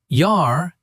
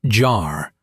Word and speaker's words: Jahr: In German, the letter J is always pronounced like the English Y. Always. No exceptions. Always Y. Okay. So, ja, yes, not ja. Jahr, year, not jar.